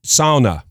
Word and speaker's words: sauna: Sauna. I'm just going to say sauna, rhymes with Donna, and I'm sorry if I'm mispronouncing.